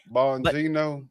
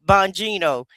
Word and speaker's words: Bongino: Bonino. Bonino.